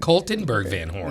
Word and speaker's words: Kaltenberg VanHorn: I've got, and I want to make sure I'm pronouncing Kaltenberg VanHorn. Is that correct? Kaltenberg VanHorn. Yes, I forgot another word there.